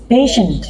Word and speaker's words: patient: you say to me patient patient patient patient it's not passion you have to say patient patient patient don't say